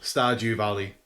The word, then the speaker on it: Stardew Valley: It's actually called it's called Stardew Valley. Okay. As in with a D.